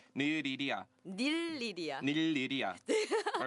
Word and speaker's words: 닐리리아: 닐리리아 발음 어렵죠? 릴리야. 오! It's better than me. 릴리야. Lilia. I got it wrong, right? Yeah. Yeah, it's a bit difficult to properly pronounce. Okay. Nililia, is it right?